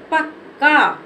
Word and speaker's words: पक्का: इसको क्या पढ़ेंगे पक्का क्योंकि इसके उच्चारण में ज्यादा समय नहीं लग रहा है आधा का जो हमारा है इसके उच्चारण में हमें ज्यादा समय नहीं लग रहा है तो पका पक्का इसको पढ़ देंगे पक्का चलो ये दे देखिए